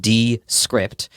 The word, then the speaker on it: Descript: It's spelled Descript, like Descript.